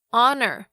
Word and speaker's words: honor: H 要发音，什么时候又不发音呢？几个比较常见的像是 hour 小时， honest 和 honesty 诚实的和诚实， honor 荣誉，跟 heir 继承人，这些都是以 H 开头但是不发音的例子。那另外如果像是 RH 开头的话，这个 H 也是不发音哦，像是动物园里面的犀牛 Rhino 就是一个活生生的例子， R-H-I-N-O Rhino。